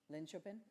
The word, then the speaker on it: Linköping: Oh dear, I should have asked how to pronounce this. What was that? Linköping?